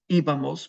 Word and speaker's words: íbamos: It's íbamos with an accent on the I.